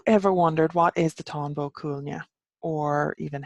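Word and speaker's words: Táin Bó Cúailnge: vulture have you ever wondered what is the tombow Cunha or even how to pronounce the tombow Cunha with a cattle rate of Cooley as it is in English under Tonga Cunha in Irish so I have put together a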